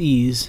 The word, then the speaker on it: EES: EES is pronounced ease and is an acronym for Engineering Equation Solver